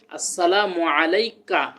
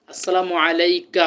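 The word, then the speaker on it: السلام عليك: আততাহিয়াতু লিল্লাহি ওয়াস সালাওয়াতুবা আসসালামু আলাইকা আমরা অনেকজন আসসালামু আলাই না আসসালামু আলাইকা হবে আসসালামু আলাইকা আইুহান নাবী ওরাহমাতুল্লাহি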